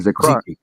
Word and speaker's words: Zechariah: And Zechariah, I believe that's how you say it. And Zechariah.